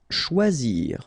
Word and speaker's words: choisir: Choisir. Okay, remember when you combine this C and H, you get the sound sh, and then OI, wa, okay, choix, and then zir, choisir. Prononcer.